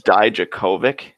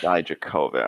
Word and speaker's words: Dijakovic: So it's Dijakovic. Yeah. Dijakovic. All right, I'll rewire myself again. Super emphasis on the third syllable there. Like the co part is the part that you're supposed to put emphasis on.